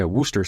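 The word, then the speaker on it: Worcester: confidence that that bottle why is it pronounced that way they're British just ignore them it's the it's the Ampersand it's the noises got squished squished oh yeah woster sauce and eventually if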